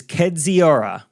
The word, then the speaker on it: Kedziora: My last name is pronounced phonetically is Kedziora. The I is silent and always trips people up because I think we were talking about the people right, who Kedziora.